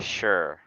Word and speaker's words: Shure: It's a Shure.